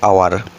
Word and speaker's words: hour: এখানে এইচের উচ্চারণ হচ্ছে সাইলেন্ট, OUR আওয়ার, HOUR এমনিতে প্রনাউন্সিয়েশন জেনারেলি হওয়ার কথা হাওয়ার, এইচের উচ্চারণ হয় হ, কিন্তু এখানে HOUR হাওয়ার না হয়ে কি হবে, আওয়ার হবে। আর আওয়ার মানে আমরা জানি ঘন্টা।